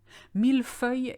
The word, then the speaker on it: millefeuille: Millefeuille is quite hard to pronounce because you've got 2 things to remember. You've got that ILL rule, as in feuille, which means you don't say le, you say ye. But you've got mille, which is an exception to the rule. So millefeuille.